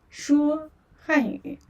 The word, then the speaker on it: 说: So you just say 说汉语. Okay, 说汉语. And here's a character about 说汉语. 说汉语. So 说, yeah, 说 first tone, which means speak.